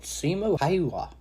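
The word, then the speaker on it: Simo Häyhä: Today we're going to be talking about Simo Haywa. I've watched the video. That's how you pronounce it.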